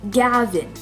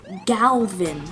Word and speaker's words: Gavin: Like, first, he is absolutely triggered of the fact that his friend is called Gavin, and I pronounced it Galvin with an L.